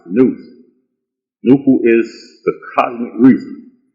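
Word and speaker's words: nous: and ancient philosophy nubu is failed n-o-u-s and pronounced news nuku is the cosmic reason also called sound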